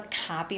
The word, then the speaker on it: copy: making some copies okay twig loves this word copy copy because they want you to know the difference between coffee coffee a drink a cup of coffee coffee or he's making some copies he's making some copies